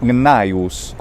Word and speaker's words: Gnaeus: g and the same thing is true with naius which is a genius or something doesn't it